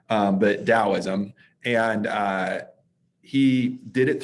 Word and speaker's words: Taoism: a little series on taoism or taoism depending on how you want to pronounce that that t uh i think it's technically pronounced with a d sound um but taoism and uh he did